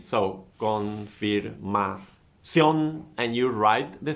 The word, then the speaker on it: confirmación: Then you have the word confirmación. Where is the stress? In ción, right? So confirmación, and you write the stress mark in ción.